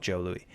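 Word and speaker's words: Jos Louis: j but it's called Jo Louie the pronunciation of Jos as Joe has created the assumption that the snack was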